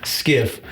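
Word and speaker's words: SCIF: skiff over at Battalion a skiff was a sensitive compartment and information facility pronounced skiff where the top secret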